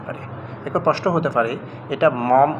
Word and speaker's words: Maugham: একজন British short story writer William summer shed মম এখানে যে শব্দটা শেষে এ মম শব্দটি এটার এক্সেন্ট অনেকেই ভুল করে এখানে অনেকেই এটা মনে করতে পারে এটা মগাম মগাম এভাবে কিন্তু এক্সেন্ট কিন্তু করতে পারে প্রশ্ন